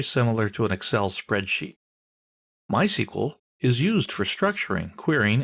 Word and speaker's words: MySQL: so what is MySQL well it's a version of SQL we'll talk about that in a minute people in the know don't say MySQL they say my SQL that's generally how it's